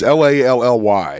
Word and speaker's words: Lally: Lally. I don't know. It's Lally. It's like Rally, but Lally.